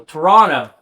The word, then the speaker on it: Toronto: Or when I was in Toronto, I was told that you can't pronounce the T, like it's super offensive. So Toronto, I was in Toronto, had a headline show there.